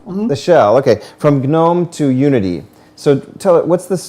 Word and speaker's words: GNOME: How do you pronounce it? I've always heard it as GNOME. GNOME.